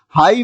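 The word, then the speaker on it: high: में के साइलेंट है हाई में जी और ह साइलेंट है और इसी तरह वॉक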